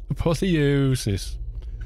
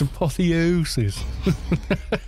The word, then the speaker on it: apotheosis: a bit more apotheosis apothesis they always want to say it like Hermione Granger it's apotheosis there's a stray